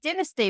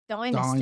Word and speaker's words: Dynasty: Dynasty, but Americans say Dynasty.